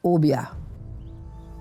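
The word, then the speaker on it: Obeah: It's pronounced Obia.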